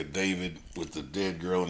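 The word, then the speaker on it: D4vd: Have you heard anything about this the singer David with the dead girl in his trunk and all that good How do you say this nigga's name?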